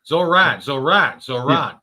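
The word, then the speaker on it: Zohran: Zoran. Yeah, it's like Duran, only without the dur.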